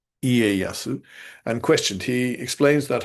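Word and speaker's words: Ieyasu: Again, it's spelled wrong. It's leasu. It's not. It's Iasu.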